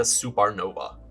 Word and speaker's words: SupeRNova: heart with the Dacia SupeRNova. And I am pronouncing it like it's spelled.